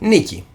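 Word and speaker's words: Νίκη: comes from nike yes which in greek is pronounced nikki now nikki means win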